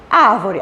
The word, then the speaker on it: árvore: contar sílaba tônica também assim como aqui ó árvore a sílaba tônica é a última não né é a penúltima também não é a antepenúltima sim então a posição